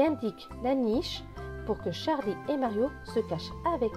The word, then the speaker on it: Charlie: Charlie. Le E à la fin est écrit en gris, donc il ne se prononce pas.